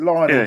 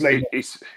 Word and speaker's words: Lionel: Some people pronounce it Lionel, don't they? But it is Lionel.